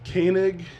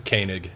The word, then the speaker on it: Koenig: pronounced your name right it's konig koenig it's koenig koenig okay so i feel like i have been pronouncing it right maybe maybe i get all sorts of different pronunciations all right i've just gotten used to it it looks nothing like it's spelled i know koa so